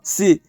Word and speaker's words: C#: Donc vous avez peut-être déjà entendu le nom comme Java, C ou C++, prononcé C++, et C hashtag qui est prononcé C#.